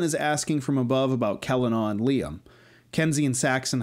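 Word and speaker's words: Celanawe: between Bastion and Delvin to help make it clear that it's not Selanawi, but Kel-an-aw.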